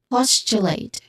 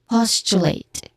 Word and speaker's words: postulate: This word is postulate. The stress is on the first syllable. Again, postulate.